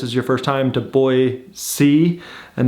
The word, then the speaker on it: Boise: was excited to see you right know you pronounce it boy see all right guys so now we're all now